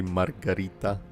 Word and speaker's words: Margarita: I'll pronounce in the Spanish way Margarita.